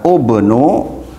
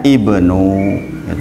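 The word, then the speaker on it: ابن: sebagaimana kita pelajari yaitu Harusnya kalau menurut rumus Dibaca ubnu tapi dibacanya Ibnu itu khusus ini kan keluar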